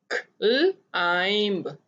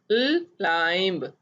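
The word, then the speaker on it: climb: क्लाइंब, यहाँ पे आई आई की आवाज दे रहा है। क्लाइंब, क्लाइंब, क्लाइंब। T silent है, इसकी आवाज नहीं आएगी।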